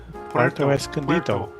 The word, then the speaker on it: Puerto Escondido: Puerto Escondido.